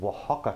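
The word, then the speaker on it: Oaxaca: for this dish if you can please find Waka cheese if you need the way you spell that get ready to get a pen cuz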